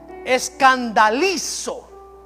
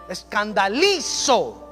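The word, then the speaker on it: σκανδαλίζω: Tropiezo viene de la palabra griega escandalizo, con acento en la I, escandalizo.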